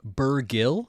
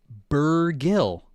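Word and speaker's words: Bergil: Um, Gil with a hard G. H. What did I say wrong? Burgill. Is that what we're talking about? Are we talking about that gill? Um, burr gill. H. Am I Am I wrong about this? That we're saying gil hard g?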